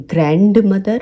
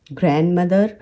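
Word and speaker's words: grandmother: मैंने बहुत लोगों को सुना है वो वेंसडे को वेडनेसडे कहते हैं, वो ग्रैंड मदर कहते हैं, ग्रैंड फादर कहते हैं। आपको उसे ग्रैंड मदर, ग्रैंड फादर इस तरीके से बुलाना है क्योंकि डी इसमें साइलेंट होता है।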